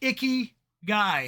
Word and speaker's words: ikigai: that a lot yeah it's pronounced like icky guy yeah so the purpose